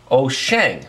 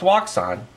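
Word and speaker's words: Wouxun: band handheld fm transceivers this is made by oh shang it's not pronounced wakson oh shang it's very nice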